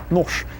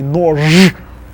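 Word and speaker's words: нож: So all of those voiced consonants, the b, etc., v, they will become their voiceless counterparts at the end of words.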